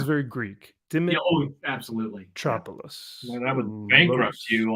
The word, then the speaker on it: Dimitropoulos: Dimitropoulos. I think it's missing a vowel. I feel like it's missing an I. Dimitropoulos. There we go. Right. It sounds very Greek. Absolutely. Dimitropoulos.